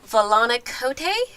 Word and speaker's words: Volana Kote: the cat dish jen is with us and valani cote is how you say it correct that is